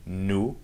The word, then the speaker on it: nous: New, you don't pronounce the s at the end.